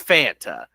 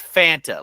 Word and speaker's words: Fanta: It's Fanta. It's Fanta, like fantasy. All right?